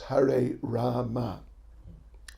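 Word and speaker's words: Hare Rama: and we said that well strictly speaking it's her a rama that in sanskrit is the spelling and the actual pronunciation and there was a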